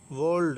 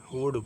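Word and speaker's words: would: कोल्ड, कोल्ड नहीं, एल को नहीं पढ़ना तो कुड पढ़ना है, वर्ल्ड नहीं पढ़ना, वुड पढ़ना, क्योंकि एल साइलेंट है।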